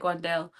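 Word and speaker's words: Wan'Dale: I like Wandelle. Um, and I can't help but say Wendell Robinson again. It's a it's a pronunciation thing.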